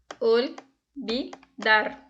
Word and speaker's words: olvidar: Então, no espanhol, o V ele é pronunciado com o som do B, do português. No caso, como seria lida essa palavra aqui? Olvidar. A pronúncia seria olvidar. E vida. A pronúncia seria Vida. Coloquem aí o livro de vocês, peguem aí.